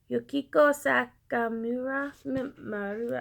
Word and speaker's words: Yukiko Sakamura: And then Yukiyoko Sakamura. I'm sorry, Sakamura. I'm so sorry. I'm awful at it. Also on YouTube, very amazing. Here's how you say her name: Yukiko Sakamura.